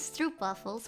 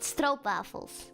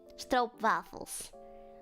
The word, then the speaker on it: stroopwafel: If there is like double o in the Netherlands in Dutch, it's o, not oo, like in English.